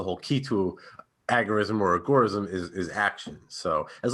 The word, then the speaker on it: agorism: is agora or agoraism because it comes from the greek term agora which just means you know marketplace but with that being